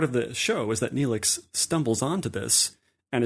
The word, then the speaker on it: Neelix: we know hang on did you mean to say Netflix oh is it is it not is it not Oh Neelix right well it's spelled almost